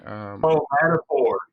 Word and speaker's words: Madripoor: And that they also believe that they showed the fictional island of Madripoor. Is that how you pronounce that? Yeah, in Madripoor.